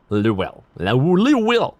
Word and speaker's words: Louisville: Death from Kentucky is always pronounced like Louisville. Always said like you got marbles in your mouth. Louisville. Louisville. Lill.